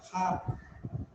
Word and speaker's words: hearth: She was preparing bread and baking them on the hearth. What is the spelling? H-E-A-R-T-H. And what is the pronunciation? Pronunciation hearth. Hearth. All of you repeat after me. Hearth. Not her. Hearth.